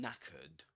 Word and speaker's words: knackered: Being knackered means that you're extremely tired. That's what knackered means. And you write it like this. Knackered. And here in this word, the K is silent. We don't pronounce it.